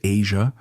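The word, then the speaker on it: Eja: Their son, Ija, pronounced Asia, was born in 2001, enriching their family life and intertwining personal responsibilities with professional commitments.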